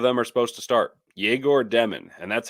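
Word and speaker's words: Egor Demin: and both of them are supposed to start jagor demon and that's how it's pronounced jagor demon jagor demon is starting alongside D Hall and alongside Canon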